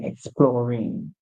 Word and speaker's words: exploring: in exploring exploring right if you don't know the word because the is missing from the root word because when you are add an in you have to remove the E you might say explore explore or so you might just drop the song to or exploring exploring right however it should be exploring exploring and to explore something